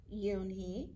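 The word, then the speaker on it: Unhei: new here what's your name a girl asked yoon hee said yunhee the girl ass crunching up her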